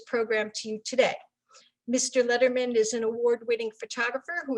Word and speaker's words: Lederman: Lederman. Letterman, it's pronounced Letterman.